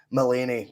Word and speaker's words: Mullany: Is it Mullany? How would you pronounce that? Mullany.